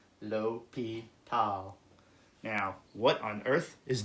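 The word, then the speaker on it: L'Hôpital: this well actually it's the way you pronounce this is l'hopital lo P tau now what on earth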